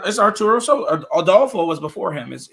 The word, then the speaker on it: Arturo Sosa: It's Arturo Sosa.